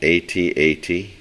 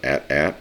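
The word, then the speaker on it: AT-AT: have the blizzard assault at8 or at at depending upon how you want to pronounce it this is again ha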